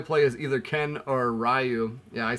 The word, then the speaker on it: Ryu: I think you can only play as either Ken or Ryu. Yeah, I say Ryu, not Ryu.